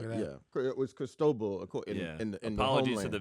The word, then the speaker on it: Cristobal: Yeah, it was Cristobal.